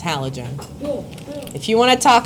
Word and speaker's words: halogen: That's not even how you pronounce this word. It's halogen. If you want to talk about halo, do it outside of my class.